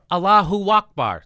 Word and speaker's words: Allahu Akbar: He yelled, Allahu Akbar.